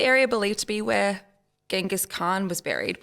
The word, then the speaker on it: Genghis Khan: believed to be where Genghis Khan was buried which you said is supposed to be pronounced chengis chengis Khan from that super bad